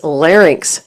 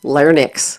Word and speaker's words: larynx: The correct pronunciation is larynx, not larynx.